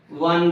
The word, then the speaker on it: one: word for example a one rupe note a one rupe note here the starting letter is o o letter but it gives the pronunciation of w a one rupee note